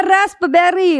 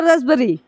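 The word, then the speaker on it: raspberry: है इसको पढ़ते हैं लिखा तो है रास्पबेरी लेकिन इसको पढ़ते हैं रसबेरी रसबेरी यानी इसको ज पढ़ते हैं रसबेरी यानी हमारा पी का नाम और निशान कहीं भी नहीं है पी और बी एक पास आया है हमारे रूल में है कि पी के बाद अगर बी आएगा तो प को हम क्या करेंगे साइलेंट कर देंगे तो इसलिए हमारा क्या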